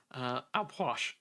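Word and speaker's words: Ah Puch: the Mayan death god Alposh. All right. So his name is spelled like R, so like in father, far, R, and then it's spelled Puch, but you almost say it like a push, Alposh.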